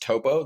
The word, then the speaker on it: Topo: the account will either be shocked that it's pronounced Topo they they usually say Oh I thought it